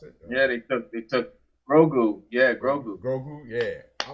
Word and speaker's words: Grogu: How you pronounce it? They took Grogu.